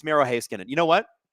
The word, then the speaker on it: Heiskanen: It's Miro Heiskanen.